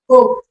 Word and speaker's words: hope: So just know that the E is silent. The E is what? Silent. The E is what? Silent. The E is what? Silent. But it makes the vowel.